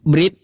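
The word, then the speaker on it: ברית: Dalam bahasa Ibrani, brit ya atau bris dalam pengucapan klasik berarti perjanjian.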